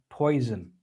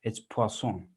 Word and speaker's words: Poisson: first this is not poison distribution okay this is the name of a french mathematician and as many french